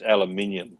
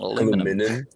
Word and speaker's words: aluminium: And it's aluminium too. Not aluminum. And one-story building, two-story building is spelt STOREY in Australia.